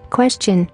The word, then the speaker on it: question: For example, TI sounds CH in question and suggestion.